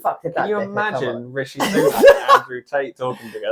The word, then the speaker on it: Rishi Sunak: I'll say his name properly, Rishi Sunak, for everyone.